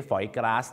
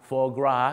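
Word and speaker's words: foie gras: อย่า ลืม ครับ เข ออก เสียง ว่า for นะ ฮะ for ไม่ ใช่ ฝอย กส นะ ครับ for GR ก็ คือ ตับ หาร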